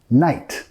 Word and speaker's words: knight: Knight. I'm not a knight. I'm your white knight. Caballero parece como knight, pero vamos a pronunciarlo igual a noche. Night. La K es muda, ¿ok?